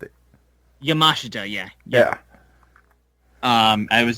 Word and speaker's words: Yamashita: Yamashita. Yeah. Yeah. Um I was just going to say cuz Yeah. I always want to say Sheita, but I know that's not right. It's Yamashita.